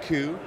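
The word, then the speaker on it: Coup: is called cou cou P is how you spell it but I pronounce it ku because it's fun whether it's right or wrong I don't know and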